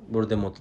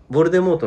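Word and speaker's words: Voldemort: て言ってるじゃんあれ本当は T を発音しなかったらしいのね作者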